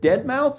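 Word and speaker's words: deadmau5: Is it dead mouse or is it like dead moose or like? I think what? it's like spelled dead differently. Yeah. I think it's like DEDMAUS or something, but you pronounce Dead Mouse.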